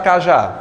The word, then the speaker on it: cajá: é que eu separo cajá Eu não tenho problema aqui né Vamos lá quem é a sílaba mais forte cajá É o quê É o a Por que que a